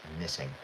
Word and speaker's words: knitting: So if you look at that we don't pronounce the K. The K is silent, knitting.